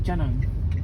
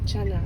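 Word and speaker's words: canang: how do you say that in we say Chang Chang Chang yeah go make a protection offering to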